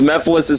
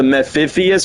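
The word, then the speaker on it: Mephiles: whatnot and they're like they mispronounced Mephilis's name to Meifius or something.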